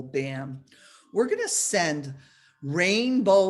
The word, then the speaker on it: bam: and in her heart is the white seed syllable bam b-a-m on a sun disk on a white